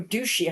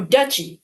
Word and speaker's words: duchy: That sounds like or douchy. How do you say that? Let's check. That looks like douchy. Oh, duchy. Duchy? Really? What? I keep thinking it was duchi.